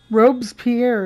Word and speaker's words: Robespierre: Robespierre is how you pronounce that, huh?